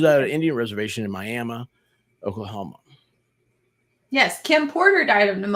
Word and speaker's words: Miami: But it's Miami, Oklahoma, but it's pronounced Miami.